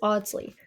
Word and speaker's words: Ardsley: Even the way we pronounce Ardsley tells a story. In England, it is oddsly, non-rodic with the R dropped. Here in New York, however, the R stays strong. Ironically, that's what makes our pronunciation closer to how English was spoken centuries ago, more traditional than modern British English itself.